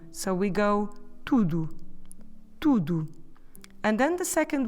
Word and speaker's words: tudo: You see, both syllables have the same sound U. Put your lips round and forward. U. As if you're going to whistle. Let's do it again. U. It's a bit like the sound of a double O in English. But don't forget that in order to say tudo, we need to stress the first bit of the word. Tu, not the do.